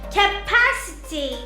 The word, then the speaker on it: capacity: When we come across words ending in ity or ity, we put the stress or place the accent before the syllable. For example, ability, Ability, capacity, capacity, generosity, generosity, sensibility,